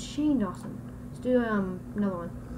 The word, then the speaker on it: Shane Dawson: so fast it's really they pronounced it Shawn Dawson it's Shane Dawson let's do um another